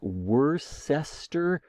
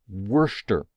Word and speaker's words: Worcester: okay this word uh w-o-r-c-e-s-t-e-r it looks like Worcester but it's just Worcester I don't know why it's a it's pronounced Worcester in fact you can go to